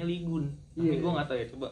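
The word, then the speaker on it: 이곤: Tulisannya emang Ligon sih, tapi bacanya Ligun.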